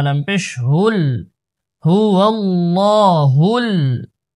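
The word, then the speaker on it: هُوَ اللَّهُ: হা লাম পেশ হুল, হুয়াল্লাহুল, প্রথম লাম মোটা, তারপরের লাম পাতলা, হুয়াল্লাহুল, হুয়াল্লাহুল, খ, খ আলিফ জবর খ, লাম জের লি খালি কফ লাম পেশ কুল খালিকুল হুয়াল্লাহুল খালিকুল বা বা আলিফ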